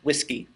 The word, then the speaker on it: WSGI: these different frameworks it's that WSGI dot PI file that was in our main app that is pronounced whiskey oh and another thing